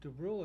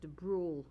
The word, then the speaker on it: DeBrule: Is it Dubriel or Dubriel? No, it's DeBrule.